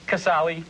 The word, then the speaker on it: Casale: How do you pronounce it? Casale.